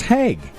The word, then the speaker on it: Hague: It's Hague.